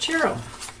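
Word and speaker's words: Ciro: It's Chiro Mar Chiro Marquettes. Gilded Rey Chiro. If you put it in a search engine, you'd spell it C I R O, but he's Italian, so it's pronounced Cherro.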